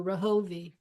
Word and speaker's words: Rahovi: And it's pronounced like the Rahovi.